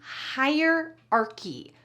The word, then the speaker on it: hierarchy: Advanced phrase number 22 is hierarchy. Notice the pronunciation here. Higher, like higher and lower. Hierarchy with a K sound.